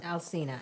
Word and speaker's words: Alsina: Alsina, yeah.